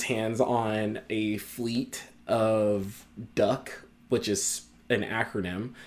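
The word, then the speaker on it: DUKW: on a fleet of duck which is an acronym it's not spelled technically duck it is spelled duw which u d stands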